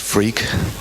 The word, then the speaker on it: Freke: So I'm Tim Freke, allegedly, and my name really is pronounced Freak.